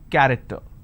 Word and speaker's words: character: each Nation its present character so you see the word character I have the letter c h and it's pronounced as Cur I don't say character I say it character one last passage for